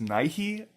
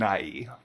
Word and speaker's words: Nighy: I don't hear it I've heard it pronounced Nike and Nighy great that guy he's